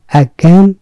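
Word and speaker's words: again: করা গণ্য করা আগে এগেইন আমরা সবাই বলি কিন্তু আমরা এটা কেন দিলাম এগেন কারণ এর উচ্চারণটি ক্যান টা খুব আস্থায় করে উচ্চারিত হয় যেমন আমেরিকা অনেকে আমেরিকা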